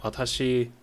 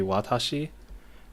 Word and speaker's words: 私: So I did say that watching the video from Dogen on YouTube, that watashi, when you pronounce it in Japanese, the romanization might be watashi, but the W is pretty soft.